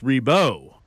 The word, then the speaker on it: Ribault: But a school district spokeswoman told me the principal is adamant it's Ree-beau.